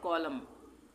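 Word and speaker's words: column: ये है कॉलम, कॉलम, कॉलम्ब नहीं बोलेंगे, कॉलम, इस तरह से बी का उच्चारण नहीं करेंगे, हम बोलेंगे कॉलम।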